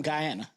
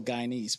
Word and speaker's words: Guyanese: We're from Guyana, Okay. so Guyanese people. That's how you say it. Nice. Not Guyan.